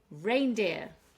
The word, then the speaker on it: reindeer: Reindeer, two syllables, we're stressing on the rain.